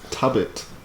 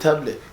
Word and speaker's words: Tabbit: Can you, how do you say my last name again? Tabbit. Tabbit. Yeah, I'm Jamaican. I got an accent. You have indeed. You look, you never call it tablet.